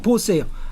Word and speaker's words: Bose: 우선 이 BOSE라고 쓰는 패밀리 네임은 사실은 벵갈 지역에 지금 벵갈 주로 인도 동북 지역에 그 까야스타라고 하는 카스트 사람들이 쓰는 그 성입니다. 보스 패밀리 네임이고. 근데 보스 말고 바수라는 이름도 종종 있어요. BASU로 쓰든지 B나 V로 쓰기도 합니다. VASU로. 왜냐하면 벵갈 사람들은 B하고 V하고 구별 안 합니다. 같은 스펠링으로 생각해요?